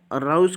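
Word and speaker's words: arouse: इसकी मीनिंग को याद रखने के लिए अराउज में की मीनिंग रोज, अराउज रोज, इसकी मीनिंग रोज रोज की तरह इसका प्रोनाउंसिएशन हो रहा है।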